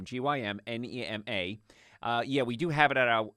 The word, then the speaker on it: Gymnema: It's Gymnema, Gymnema. So Gym, like working out the gym, Gymnema.